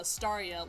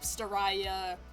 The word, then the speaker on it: Stia: But what's I'm I'm surprised that most people have been able to pronounce like uh Stia like clearly and not like Staya.